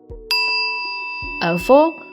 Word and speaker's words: avô: Avô with the circumflexo, the little hat, means grandfather.